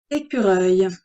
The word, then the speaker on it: écureuil: Écureuil. Et, c'est U pour faire écure avec le R et le œil, E-U-I-L. C'est un nom masculin. Le son œil est à la fin du mot.